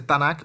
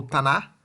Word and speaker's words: Tanakh: Tem mais de uma pronúncia, pode ser Tanakh ou Tanar, tá?